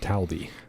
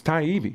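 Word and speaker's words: Taibbi: just go there and you could hear it pronounced I heard it's not hard Gerald call him Matt talby Matt talbi Matt TB yeah Matt Tibby look tidy it's taibi right there Thai taibi Tay I could I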